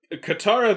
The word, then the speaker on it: Katara: Aang talking to Katara, and how are they mispronouncing Katara and Sokka in that movie again? Katara they got right.